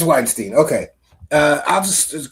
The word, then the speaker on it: Weinstein: Don't want to continually mispronounce somebody's name. Ramstein. Yes. Steen.